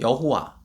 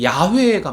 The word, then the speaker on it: 야훼: 보통 하나님을 여호와라고 부르는 여호와. 예, 이것도 번역상 아무튼 좀 더 히브리 그 발음으로 봤을 땐 야훼가 맞습니다. 야훼라고 하는 게 더 맞겠다 싶은데 아무튼 여호와 그리고 뭐 뒤가 붙어요.